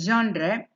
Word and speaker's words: genre: it is pronounced as jandre it's a because it sounds unusual because uh it's a French word and what does it